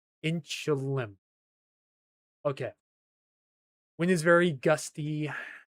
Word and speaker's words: Inchelium: Inchilium. Inchilium. So, the I is silent. Inchilium.